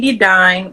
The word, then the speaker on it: Dedon: my name is Kimberly dedon rhymes with Divine if you need to know the pronunciation um but I'm also